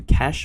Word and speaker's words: cache: But basically it's a way to cache or to cache, depending on how you want to pronounce it, your very large media objects in the cloud.